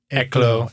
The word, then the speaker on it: Eclo: Yeah, it's French. It's like Eclo, Eclo.